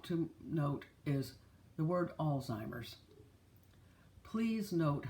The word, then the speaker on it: Alzheimer's: word because it is it does not have a t it is Alzheimer's and if you'll notice